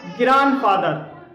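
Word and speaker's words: grandfather: इसी तरह से ग्रांड, और इसे ग्रांड बोलते हैं, लेकिन जब इसमें फादर को हम प्लस करेंगे तब इसमें डी साइलेंट हो जाएगा और इसे बोलेंगे ग्रैंडफादर।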